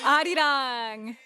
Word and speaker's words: 아리랑: re-ring. They're not. You're right. Arirang. Yes, so it is pronounced.